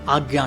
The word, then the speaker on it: आज्ञा: चक्र है दोस्तो वो आज्ञा चक्र है इसका संस्कृत में शुद्ध उच्चारण आजा आजा चक्र होता है और इसको और भी